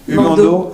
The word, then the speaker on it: Humando: Comment ça s'écrit, Humando, H-U-M-A-N-D-O.